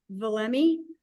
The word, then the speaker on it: Valemee: right now we are the way we pronounce our name is VMI VMI it's hard to say something times but VMI stands for Value me Empower me and that's why uh